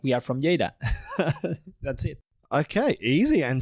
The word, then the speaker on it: Lleida: I know the town is called Lleida. I've had to learn this over my many times coming to Spain and saying your town wrong. It's spelt Lleida. And as an English-speaking person, I would say Lleida. Lleida, yeah. Lleida, yeah. But it's Lleida.